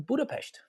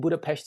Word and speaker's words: Budapest: And Budapest is how the Hungarians pronounce it. So Budapest is tourists, visitors. I'm just telling you. So that's the reason why I said Budapest, because the single S in Hungarian is like a sh sound in English.